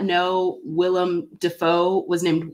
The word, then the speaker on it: Willem: I definitely thought it was pronounced William. Yeah. Yeah. And I don't know how. You know, he mispronounced his own name once on camera. I'm not surprised. He called himself William. Yeah, for everyone who thinks his name is William, it's not. Anyway, Richard Moore says Jim